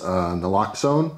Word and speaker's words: naloxone: All right, so a lot of people know what Narcan is, but if you don't, it is naloxone, I believe is how it's pronounced.